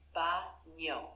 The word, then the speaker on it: baño: The word baño is pronounced ba-nyo with a soft ny sound like in the English word canyon.